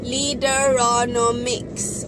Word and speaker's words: Leaderonomics: Say it properly, Leaderonomics.